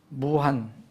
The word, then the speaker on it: 우한: 그래서 이번 중국 무한, 우리말로는 무한인데 이제 중국 발음은 우한입니다. 한문으로는 무한이고, 이에서 시작된 이